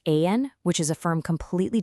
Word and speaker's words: Aayan: and pronounced Ayan, which is a firm completely dedicated to bridging evidence, systems, and impact.